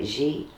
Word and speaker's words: Jihi: Jihi. Jihi. Yeah, just G he. Jihi. Emphasis on the first syllable.